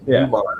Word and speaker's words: Newman: I keep calling him Norman because it looks like Norman, but it's Newman.